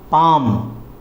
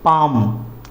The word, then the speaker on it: palm: अब दूसरा वर्ड हम लेते हैं पाम, PALM, पाम। यहाँ पर भी एल साइलेंट है।